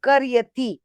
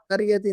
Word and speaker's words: قريتي: هؤلاء الرجال فلاحون من قريتي. یہ قریتی سب قریتی نہیں، قریتی نہیں، بڑی قافی.